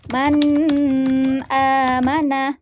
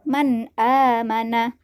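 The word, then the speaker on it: من آمن: pertama yaitu Man amanah cara baca Man amanah haruslah jelas nah coba teman-teman lihat pada kalimat Man amanah disitu terdapat huruf Izhar apa hurufnya yaitu Hamzah nah disitu terdapat nun mati atau nun sukun yang bertemu dengan Hamzah maka dia dibaca izhar cara bacanya harus jelas tidak boleh berdengung Jangan dibaca Man amanah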